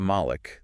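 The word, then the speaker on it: ملك: So you have Malik with a long A sound, Right. and that means an owner. And then you have Malik with a short A sound, and that means a king.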